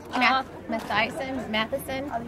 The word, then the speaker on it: Matthiessen: Matthiessen.